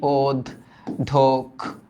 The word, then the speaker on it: অধ্যক্ষ: আমরা নর্মালি এগুলা লিখে অভ্যস্ত, সুন্দর মতো একটা শব্দ থাকে, আমরা এভাবে লিখি যে এটার উচ্চারণ হচ্ছে অধ্যক্ষ, তাই না? এটা আমরা এভাবে লিখি ওদ ধোক, হ্যাঁ, ধোক খো।